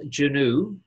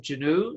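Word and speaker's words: Genoo: experience with us kim is the founder of juno spelled g-e-n-o-o kim did i pronounce that right you did ah good kim is the founder of genu spelled geno and the b2b online marketing group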